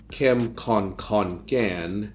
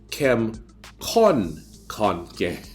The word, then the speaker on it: Kem Kon Khon Kaen: So it's not Kem Kon Khon Kaen. You have to stress the first kon. It's Kem Kon Khon Kaen. Oh, help me, please. Just help me. So the first kon is done with an unaspirated K, and the second kon